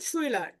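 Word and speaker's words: Schüler: যেমন শুইলার। এরপরে যখন দেখবো আমরা সে হা থাকবে তখন তার উচ্চারণ দুই প্রকারের হতে পারে, একটা হচ্ছে তালবীয়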